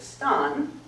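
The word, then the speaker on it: stān: words so old English has the word that we call Stone they pronounced it Stan and it has all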